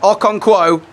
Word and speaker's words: Okonkwo: make sure what a save water save by okawanko hopefully have said his name right all right so POI so poor Kelly's in that's how you say it Okonkwo brilliant safe absolutely brilliant to keep wrexham at